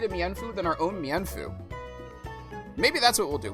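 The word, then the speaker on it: Mienfoo: I listened to people discuss official pronunciations from a scholastic guide and it says it said like meanfu meanfu not mefu meanfu.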